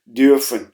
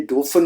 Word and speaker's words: dürfen: और यहां पर आप प्रोनाउंसिएशन पे गौर कीजिए, ये डोफन नहीं है क्योंकि यू के ऊपर उमलाउट लगा हुआ है, इसलिए आप थोड़ा सा आवाज को फ्लैट करेंगे, वियर ड्यूफन, वियर ड्यूफन।